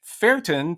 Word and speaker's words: ferten: And Dawson notes that the word fart actually comes from the Old English ferten, V-E-R-T-E-N, with a V sound.